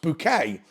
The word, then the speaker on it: Bucket: why did she want the name booket pronounced bouquet the reason is because it sounds more French it's got nothing to